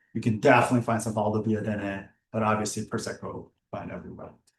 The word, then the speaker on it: Valdobbiadene: center of it, around the town of Conegliano, Valdobbiadene, this is how it's pronounced, is where we are. Conegliano, Valdobbiadene.